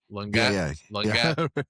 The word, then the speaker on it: Longuet: Did I pronounce the name right? Longuet? French? Longuet. Exactly. Longuet.